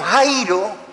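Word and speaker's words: χαίρω: Bueno, el término Jairo, no Jairo, sino Jairo, con acento en la I, que es el que se traduce por gozar, se usa a modo de saludo.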